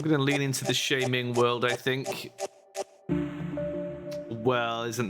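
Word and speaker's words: Sha-Ming: H I'm going to lean into the shaming world, I think. Well, isn't that a surprise? Isn't that a surprise? I think the idea is pronounced like charming.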